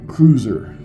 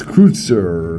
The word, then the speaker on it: Kreuzer: So in English, we were kind of barbarians. We'd pronounce that cruiser, but it's Kreutzer or something like that. And I'm sure I'm saying it wrong even now.